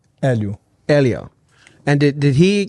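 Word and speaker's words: Helio: time limit no gloves and how do you pronounce his name Elio Elio and did did he kind of create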